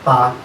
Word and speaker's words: taa: It's pronounced as ta in Ogoni. T-double-A. There's an hyphen on the A. To make it ta.